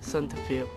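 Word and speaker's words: សន្តិភាព: This is peace in Khmer. It is pronounced Santafil.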